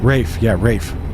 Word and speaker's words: Ralph: I saw an ad, like a first image thing for an upcoming movie, and it's Ralph Fiennes. Ralph Fiennes, I guess. Oh, it's cool. Rafe Fiennes.